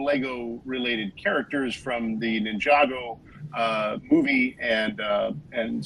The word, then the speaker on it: Ninjago: Ninjago actually is the pronunciation. Ninjago.